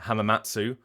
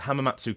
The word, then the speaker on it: Hamamatsu: So across the board you have people pronouncing it hamatsu. Hamatsu. Uh, Hammats. And then like pausing for a second like there's Hamamatsu castle. Hammats castle. Hammats castle. The the the the inconsistency is maddening.